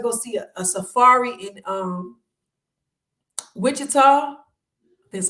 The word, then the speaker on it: Wichita: And even this year, like we got to go see a safari in Wichita.